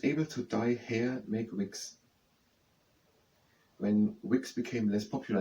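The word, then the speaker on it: Whigs: So the political they are wigs. W H E N G S. They are spelled with an H. I thought it had something to do with that. But these are the wigs and toys and the political party is spelled with an H. Now I don't know what it means.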